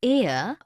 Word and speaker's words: heir: Because the words heir, honest and hour begin with a vowel sound, as the initial consonant H is not pronounced.